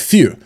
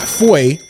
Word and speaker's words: feu: have that Vulcan, and this is Feu, not Fouet. It is spelled F-E-U. If you take French, that's Feu, Feu. It has nothing to do with Fouet.